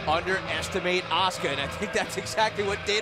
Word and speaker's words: Asuka: SCARED THE OH, BYRON, HER NAME IS PRONOUNCED ASUKA AND NOT ASUKA AND I HOPE SHE HEARS THAT AND KICKS YOU IN THE HEAD FOR GOOD MEASURE.